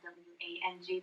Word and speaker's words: Wang: My husband's last name is spelled W-A-N-G, but we pronounce it Wang.